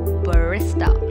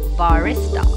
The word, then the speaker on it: barista: A lot of people mistakenly pronounce it as barista. Please remember, B-A-R will be pronounced as bar. So the correct pronunciation of the word will be barista.